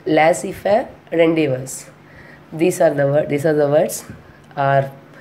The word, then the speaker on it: rendezvous: RENDEZVOUS, but we are pronouncing as a rendezvous. These two are French words.